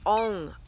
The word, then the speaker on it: Ong: We're going to be using just this part of the mantra, ONG, O-N-G, and we want to say it like this. We're really going to lengthen it out.